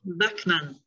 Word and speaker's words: Bachman: Madame Peggy Bachman, je prononce comme il faut, je m'excuse, Peggy. Peggy Bachman. Presque. Bachman.